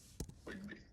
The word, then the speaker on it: Quimby: Spell it again, please. Quinbay. QUIM as in Mary, B as in boy, Y. Quimby.